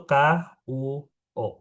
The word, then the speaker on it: 国: G itu dibacanya K. Jadi kalau ketemu GUO, bacanya itu KUO.